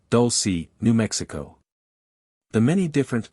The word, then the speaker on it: Dulce: place there near the small town of Dolce pronounced Dolce New Mexico the many different phenomena those previously